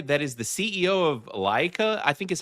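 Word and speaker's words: Laika: But the interesting thing about Travis Knight is that this dude is the guy that is the CEO of Leica, I think is how you say the name of the company, but it's the guys that do the stop motion movies.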